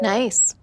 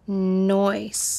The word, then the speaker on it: nice: Nice. Kim, I don't mean to be rude, but it's actually pronounced nice. Nice? Nice. Noise. N-I-C-E, nice. Noise. Nice. Like ice.